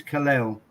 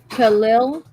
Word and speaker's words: Kal-El: His name is Kal-El. Khalil.